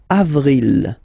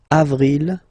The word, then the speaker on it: avril: Okay, then avril, avril, avril. Nothing really tricky about this month, I mean, for the pronunciation.